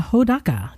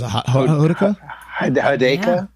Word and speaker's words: Hodaka: I know who How do they mispronounce? Hideka.